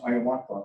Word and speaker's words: Hiawatha: Yes, there was a person, real person called Hiawatha, not the one in the Longfellow poem, but it's pronounced Hiawatha in our language.